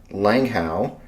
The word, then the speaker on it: Langehaug: Uh the the the great state of Utah, uh Langhow.